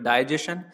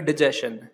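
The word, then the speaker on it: digestion: आप इस शब्द को इन दोनों तरह से प्रोनाउंशिएट कर सकते हो, या तो आप कह सकते हो डाइजेशन या फिर डिजेशन।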